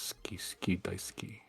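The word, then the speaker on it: 大好き: And there's several others, but Well, actually, I think the pronunciation is ski daisuki. Yeah, the stress is on the U tends to be silent. Yeah, I know funny. it's ski.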